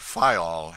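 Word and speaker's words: Fayal: of the group FAL the people there pronounced it fol and put the accent on the first syllable we anchored in the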